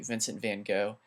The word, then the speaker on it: Vincent van Gogh: His name is Vincent van Gogh. The correct way to actually say his name is Vincent van Gogh, but if you say that, people might not know.